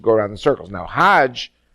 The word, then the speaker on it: Hajj: around the circles now Hajj is a pilgrim to Mecca hag is the Egyptian pronunciation hug in Hebrew means